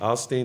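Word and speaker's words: Osteen: somebody that's like already the hip-hop Joel a Austin that's what I see in your future at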